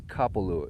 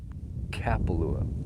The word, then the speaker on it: Kapalua: By the way, it's Kapalua. It's not Kapalua. It's Kapalua.